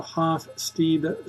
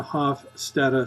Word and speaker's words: Hofstede: It's either pronounced as the Hofstede studies or the Hofstede studies. Hofstede or Hofstede, it's fine with me.